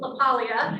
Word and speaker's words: LaPaglia: Very excited to have LaPaglia. Did I say it right? Yep. Forget the G.